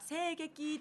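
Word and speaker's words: 声劇: から始まりました聖劇というのは声とあのなんだ劇場の劇とかけて合成劇と読むわけなんです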